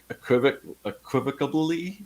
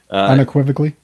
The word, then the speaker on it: unequivocally: But I could say just equivocably, is that how you pronounce that? Unequivocally. Unequivocably, t-shirts are just a hard sell regardless.